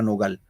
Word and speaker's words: nogal: La palabra no gal tiene dos sílabas, no gal. La pregunta es, ¿dónde va la mayor fuerza de voz? ¿En no o en gal? La mayor fuerza de voz, el acento gal en la en la no, profesor.